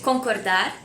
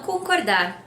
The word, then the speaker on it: concorda: The question for this answer would be, você concorda? Do you agree? Or just concorda? Agree? And the answer is eu concordo or eu não concordo. Also, the word concorda has the same pronunciation as with rope.